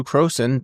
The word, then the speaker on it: Crowson: and I'm pleased to be joined today by Drew Croen.